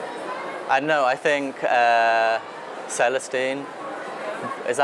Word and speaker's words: Celestine: I don't know, I think Celestine. Is that how you say it? Celestine, yeah.